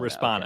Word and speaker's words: Respona: I was Respona, and all these different things, but it was Respona, right? Am I saying it right, or am I probably saying Respona? Respona.